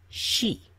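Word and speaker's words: し: pronounced C it's pronounced she she this is she as in she has nice hair okay time for soup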